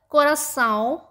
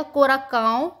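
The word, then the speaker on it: coração: अगर हम सी के नीचे ऐसे एक्सेंट ना लगाएं तो ये जो साउंड होगा वो का साउंड देगा।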